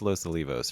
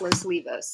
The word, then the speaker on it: Los Olivos: in Los Olivos District right yeah losos it's pronounced Losa Leos right it's pronounced Los Leos yeah I always do that wrong um and